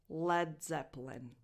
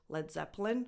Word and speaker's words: Led Zeppelin: Led Zeppelin.